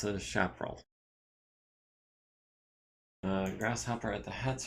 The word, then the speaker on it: Chaparral: point of heat oh Chaparral is pronounced similar to shrapnel chap roll the origin is a type of biome really okay so it's a chaperel uh grasshopper at the